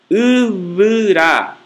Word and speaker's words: uvra: Pronuncia-se como o V do castelhano em huevo. É um B fricativo e não oclusivo. Isto é, para pronunciá-lo, os lábios não se fecham, apenas friccionam-se. Sua representação no alfabeto fonético internacional é a letra grega beta minúscula. Como em avá, homem, uvra, árvore, e tová, rosto.